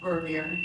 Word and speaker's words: Vernier: My mother's maiden name is Vernier. That's how she pronounces it.